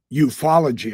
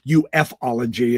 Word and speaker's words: ufology: great uh voices in the euphology I guess is how they pronounce it I've been calling it ufology and people been yelling at me so euphology is uh